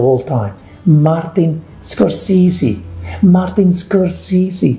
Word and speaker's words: Scorsese: greatest directors of all time martin scorsese martin scorsese scorsese susie martin scorsese show some respect to one of the greatest